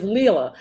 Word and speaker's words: Leila: Her name is Layla, and my sister is Leela. So, but it's spelled the same way, Leila.